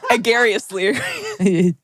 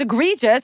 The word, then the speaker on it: egregious: They were coming for me, and you said agarious, and you go, wait. And then we said, oh, it's egregious.